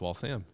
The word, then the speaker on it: Waltham: If I just, how do you pronounce Waltham? See, then I screwed it up. It's Waltham.